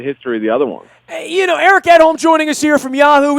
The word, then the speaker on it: Edholm: Eric out on Twitter as well at Eric_Edholm. That's EDHOLM. I am pronouncing that correct, right, Eric?